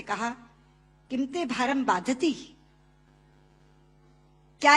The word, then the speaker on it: बाधते: कि राजा, मुझे ये भार कष्ट नहीं दे रहा जितना आपके मुंह से बोला हुआ बाधती शब्द कष्ट दे रहा है, क्योंकि बाधती शब्द का अशुद्ध उच्चारण आपने किया है। ये शब्द बाधते होना चाहिए।